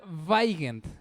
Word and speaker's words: Weigend: Mi apellido se deletrea Weigand, W-E-I-G-E-N-D, pero se pronuncia Weigand.